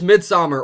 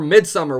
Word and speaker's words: Midsommar: Coming in at number 4 is Midsommar, or Midsummer, whichever way you want to pronounce it.